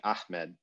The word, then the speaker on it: Ahmed: h or the the the pharyngeal h in in things like ahmed the name so that that has